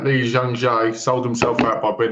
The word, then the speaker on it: Lee Jung-jae: get his name up to say it right, Lee Jung-jae, sold himself out by being in that show.